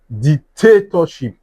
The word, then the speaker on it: dictatorship: The stress is at what? This part. at this part And if you have to even pronounce the word here, you will feel it. dictatorship, dictatorship is the dic- Even if you have to say it softly, you will still get it.